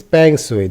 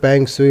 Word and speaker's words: Peng Shuai: Who is Peng Shui? The 35-year-old Peng Shui, her family name is pronounced Peng, and the end of her given name rhymes with Y, is a three Olympian